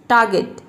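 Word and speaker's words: target: आर को silent रखेंगे तो र का साउंड, आधा र का साउंड अपने आप निकलता है, इसलिए यहाँ पे आर साइलेंट है। टारगेट, टारगेट।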